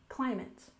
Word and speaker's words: climate: have climate change remember there is a stress on the first syllable in climate climate for example climate change